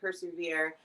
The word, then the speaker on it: PRSVR: PRSVR it stands for persevere. So, you know, Okay. you can pronounce it persevere, but we wanted something that would resonate a little bit deeper and a Okay.